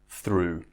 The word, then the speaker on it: through: is the roux so it rhymes with 2 2 through now that's all there